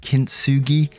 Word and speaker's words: kintsugi: new to me, and I'm going to have to go with the English pronunciation here of kintsugi, where it means joining